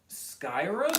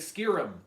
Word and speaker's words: Skyrim: played skyrim and then i was like skyrim and he was like scare him skiing him and he just kept saying it like that was the way that it was supposed to be pronounced and i was like